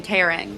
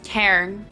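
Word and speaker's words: Tairn: I kept saying tearing, but it's like T-A-I-R-N. It's Cairn. So instead of listening to me butcher these names, I found the original video, and here it is.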